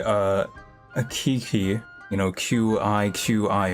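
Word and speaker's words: Qiqi: a Kiki you know Qi Qi apparently that's pronounced chi chi or something like that and I'm just like well why didn't they just spell it like that um and just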